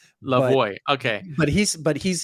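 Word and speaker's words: Lavoie: Alfie in French but he pronounces it the American way at least when he's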